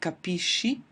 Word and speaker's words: capisci: So what I have is capisco hard pronunciation and then capisci and capisce, which is soft, capiamo, capite is normal and then again I go back to the hard pronunciation, capiscono.